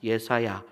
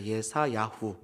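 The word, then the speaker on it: ישעיה: 뭐 저만 그렇게 늘립니까 예수라는 느낌으로 발음이 들립니다 여러분 예수야 이사야를 얘사야라고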